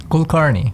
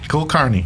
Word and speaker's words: Kulkarni: Kulkarni. That's correct. You got it. Kulkarni. Kulkarni. It's the way you pronounce it is you say cool, car, and knee.